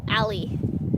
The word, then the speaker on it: Allie: So, and her nickname is Allie. Yep. Like literally spelled like an alley. So we call her Alley.